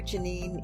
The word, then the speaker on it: Janine: with Janine and remember Janine is spelled kind of like Jane Ann J a and B